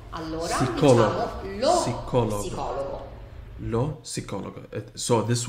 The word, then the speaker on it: psicologo: Oh, so P is pronounced in the word.